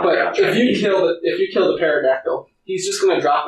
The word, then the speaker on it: pterodactyl: Because it's a pterodactyl. You pronounced it wrong. It's pterodactyl.